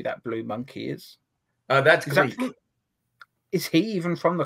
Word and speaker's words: Gleek: did you say his name is Glick? Gleek. Gleek.